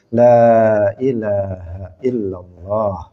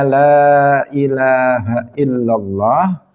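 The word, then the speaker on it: لا إله إلا الله: kemudian Dia membacanya kliru misalnya lah dibaca pendek harusnya la ilahaillallah Dia membacanya dia mengatakan Lailahaillallah Lailahaillallah ini bukan hanya tidak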